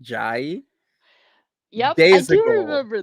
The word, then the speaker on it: Jay: said oh my name's it's spelled j-a-y but it's pronounced jai as in bb-gi you